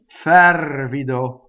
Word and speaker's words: fervido: Fervido. So closed O. The accent is on the antepenultimate syllable, right? So it's the second to last, non-common stress.